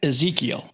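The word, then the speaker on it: Ezequiel: you see every day pronounce that Ezekiel like the Biblical name Ezekiel Ezekiel tomato tomato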